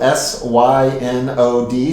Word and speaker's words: synod: a synod it's spelled s-y-n-o-d so it looks like cyanide but it's pronounced synod and our synod the